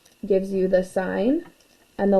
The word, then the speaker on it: sin: each ratio so the sign we write this as s i n when we abbreviate it but it's still pronounced sign not sin of an angle and